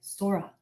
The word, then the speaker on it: Sora: remembered how Harmony would say her name with a soft s and a gently rolled R when I say the word Sora in English it sounds like Sora but when you say